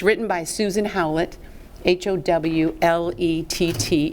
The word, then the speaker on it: Howlett: Pronounce that again. Howlett, Howlett.